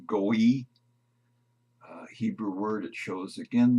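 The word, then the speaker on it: גוי: Transliteration is goy. The phonetic pronunciation, goy.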